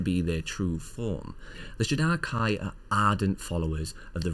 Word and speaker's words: Shadar-kai: Shadar-kai, which is the correct way to pronounce it, are a bunch of emo elves.